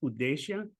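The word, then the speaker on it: उद्देश्य: about about English necessarily in in Hindi for example the the word that translates as purpose is pronounced udesa and udesa means UD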